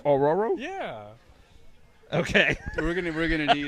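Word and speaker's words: Ororo: Is it Aurora or Oro? Aurora. I always pronounce it Oro.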